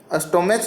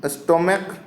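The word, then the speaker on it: stomach: जैसे कि देखें ये स्टोमैक, ठीक है, स्टोमैक है आपका तो स्टोमैच नहीं पढ़ेंगे इसको। ठीक है, CH है लास्ट में आपका, स्टोमैच नहीं पढ़ेंगे, च नहीं पढ़ेंगे इसको, क्या पढ़ेंगे, स्टोमैक।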